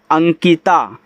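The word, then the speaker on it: Ankita: ए एन के आई टी ए, इसे पढ़ते हैं अंकिता, क्योंकि लास्ट वाला ए जो है वह मात्रा जरूर लगाएगा, उसे आप साइलेंट नहीं कर सकते।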